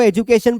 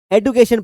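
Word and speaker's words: education: क्या करते थे कि इसको एजुकेशन पढ़ते थे, तो ये कौन सा वर्ड था जिसका जो उच्चारण था वो कौन सा था, ब्रिटिश था, एजुकेशन। लेकिन अभी आजकल इसको लोग हवाबाजी में क्या पढ़ते हैं, एडुकेशन पढ़ते हैं।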